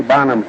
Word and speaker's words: Bonham: and he said Tiny Bonham's name is pronounced I own and I guess I mispronounced it. He says, "I own as in I own a Gillette razor."